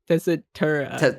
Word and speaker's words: Tessitura: Speaking of oh my god, Tessitera. Is that how you say it? Tessitura, I think.